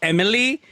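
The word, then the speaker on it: MLII: Okay, so you see M.L.I.I, pronounced Emily.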